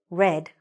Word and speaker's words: read: form is red so you pronounce this like the color red but you spell it exactly the same i know it doesn't